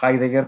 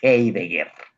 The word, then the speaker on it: Heidegger: Iba a decir, normalmente le digo Heidegger, pero me corrigió ya don Luis Benavides, ya me dijo que es alemán y por lo tanto se pronuncia Heidegger.